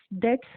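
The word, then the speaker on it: debts: तो ये जो सेटलिंग डेट्स में बी इज साइलेंट.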